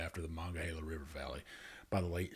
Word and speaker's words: Monongahela: It's Monongahela. Well, I should be able to say it right. It's just my hill country twang, I guess. I know. Monongahela. You got Monongahela. I know your twang wants to cut syllables.